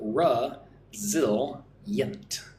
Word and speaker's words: resilient: Resilient. Resilient means you're able to recover quickly from difficulties. So, ra zil yent. So, three syllables. Stress goes on the second syllable, zil.